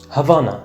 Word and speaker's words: Habana: Let's jump in Cuba's cities Havana Or Habana, as they'd pronounce it Havana is the capital,